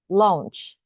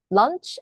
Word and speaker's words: launch: 때 그 런칭이이 인데요 런칭이라 하면은 마치 점심밥 치랑 발음이 같다라고 생각이 되지만 잖아요 그러니까 L nch launch 발음이 똑같을 수는 없겠죠 얘는 르 치 launch launch lunch 아니고요 launch 자 뭐뭐의 길에 아고